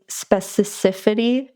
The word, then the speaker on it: specificity: sort of like strive for really really certain specificity.